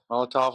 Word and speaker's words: Molotov: Molotov, like a Molotov cocktail.